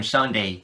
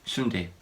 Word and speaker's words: sundae: I'm afraid I'm not talking about the ice cream sundae. This is sundae. I don't know why, but Koreans spell it like this.